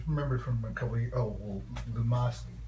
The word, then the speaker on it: Lumosity: It's Lumosity. Some people mispronounce it as luminosity, but it's just Lumosity.